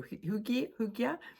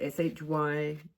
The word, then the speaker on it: Hygge: Because the next thing is getting cozy with Hygge or Hygge. I think in Sweden it's called Hygge, and I pronounce it Hygge.